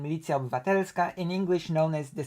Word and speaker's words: Milicja Obywatelska: Milicja Obywatelska, Polish pronunciation Milicja Obywatelska, in English known as the Citizens Militia and